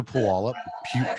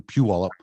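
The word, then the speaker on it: Puyallup: a rental car drove up to pawalla excuse me phew all pure wallet pew pew pew pew all up my sister screams at me every time i mispronounce it and um it was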